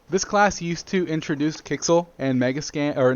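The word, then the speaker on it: Quixel: into content up here we have something called kixel bridge for those of you guys who don't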